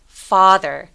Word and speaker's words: father: father. 강세를 주지 않는 요, 이 같은 모음들을 힘을 빼서 작게 소리 낸다고 생각하시면 돼요.